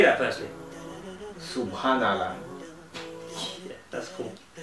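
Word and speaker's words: سبحان الله: Wait, am I saying it right then? No, it's Subhanallah. But obviously you wouldn't be able to say it right because it's foreign to you. You know, it's Arabic, it's foreign, so obviously not.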